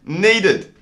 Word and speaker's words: needed: Then we had needed. This time the ed is pronounced id.